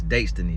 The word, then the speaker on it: Datestiny: It's a date with destiny. It's Daystiny. So, learn how to say it now.